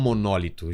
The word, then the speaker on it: monólito: Monolito ou monólito? Já ouvi as duas pronúncias, né? Eu sempre falei monolito, mas tem gente que fala monólito.